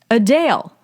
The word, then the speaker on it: Adele: election paper what is the correct way to pronounce singer Adele's name Adele when was the mansion used for vekna in stranger things built 1882.